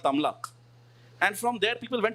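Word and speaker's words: Tamluk: Yeah, Bengali pride people will now get pissed off with the non-Bengali Harsh Madhusudan for pronouncing it as Tamlak and not Tomluk.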